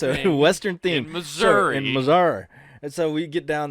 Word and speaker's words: Missouri: western theme it's a western theme Missouri in Missouri and so we get down there yeah pronounce it right with some you know put some respect on it with Mazar so they go down and I'm mizard Missouri and miserable just all right we go